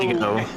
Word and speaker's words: Thiago: It's Thiago, but in Portuguese the H doesn't exist at all.